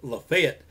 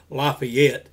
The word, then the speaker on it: LaFayette: And I know I said LaFayette. We don't say it like a lot of people say it here in Alabama. LaFayette is the correct pronunciation on it, I believe, like LaFayette, Louisiana, and some other places like that. But here in Alabama, we leave out as many syllables as possible to get the same message across.